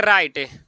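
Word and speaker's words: write: से देखिए किसी वर्ड के शुरुआत में डाब्लू रहे और डाब्लू के बाद आर रहे तो डाब्लू का उच्चारण नहीं किया जाता है।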